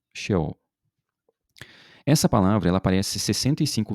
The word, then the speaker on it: Sheol: A gente pronuncia em português aqui Sheol.